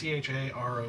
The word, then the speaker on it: Charon: It's Charon. I've never known how to pronounce it because Okay.